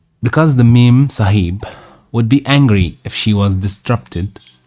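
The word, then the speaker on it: Memsahib: Meme Sahib. Meme Sahib. Yeah, it's an Indian name. It's called Meme Sahib. Sahib with an H. Because the meme Sahib would be angry if she was disturbed, if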